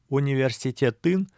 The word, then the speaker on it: университет: Слово «университет» произносится так же, как и в русском, а не по удмуртским правилам чтения, как, например, «университет», так как это заимствованное слово.